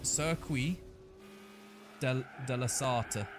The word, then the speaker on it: Circuit de la Sarthe: And there was a French guy that said it was Circuit de la Sarthe or something like that.